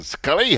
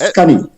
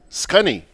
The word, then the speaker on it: Scunny: You're pronouncing my nickname wrong, but I wouldn't correct you. Well, wait, hey, tell me, isn't it? hold on. Isn't it Scully? I would not correct you. It's Scunny. Scunny.